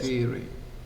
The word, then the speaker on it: theory: Theory. This is a common mispronunciation. Theory, like the vowel in here, in there, theory, not the theory. Or say here, can you hear me? Or come here, theory.